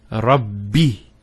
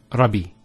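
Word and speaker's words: رب: foreign also here it's and here rubby so it's alhamdulillah it's not Robbie so if I want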